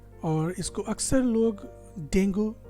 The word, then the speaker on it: Dengue: कह रहे हैं लोग कि उसको डेंगू हो गया है। डेंगू, क्या ये इस शब्द का सही प्रोनाउंसिएशन है? नहीं, इस शब्द का सही प्रोनाउंसिएशन है डेंगी।